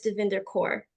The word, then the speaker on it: Davinder Kaur: and the will to break it um Miss dinder core am I pronouncing that correctly you did you pronounce it